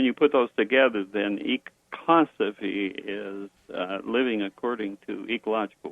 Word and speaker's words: ecosophy: The word we pronounce the word ecosophy.